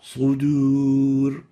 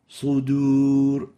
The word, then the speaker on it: صدور: So giving the dal an extra velarization would make it sound like a dad. And this is wrong. What we need to pronounce it like is like this. صدور. Sudur, sudur, and not sudur.